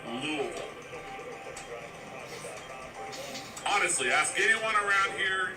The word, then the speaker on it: Louisville: Kentucky oh you said it see it's actually pronounced Lille honestly ask anyone around here in any uh